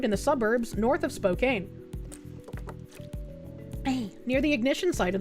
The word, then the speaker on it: Spokane: I love you as my Oshi, but it's pronounced Spokane, not Spokane.